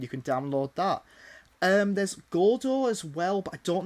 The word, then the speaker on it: Godot: He's a lot smarter than me when it comes to this sort of stuff, because it's pronounced Godot.